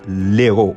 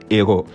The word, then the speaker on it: héros: là on dit pas on dit pas l'Hérault on dit le héros c'était tout pour aujourd'hui